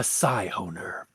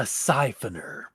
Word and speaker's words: Scyhoner: she really was, a Scyhoner. Or as I mispronounced it when I was first reading the story, a Siphoner. Which, I'm not gonna lie, sounds way better than Scyhoner, but that's just me.